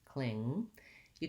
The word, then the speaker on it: clingy: the word cling cling make sure you end on the ng sound don't let your tongue drop to make a g cling you can look at my video for how to pronounce ng and words that end with ng to help you with that and then i have to glide from the cling into the e clingy clingy so one thing you